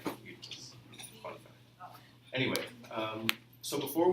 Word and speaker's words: Oedipus: I grew up, so I pronounce it the American way, Oedipus. However, the proper Greek pronunciation is actually Oedipus. It's not a D, it's actually a TH.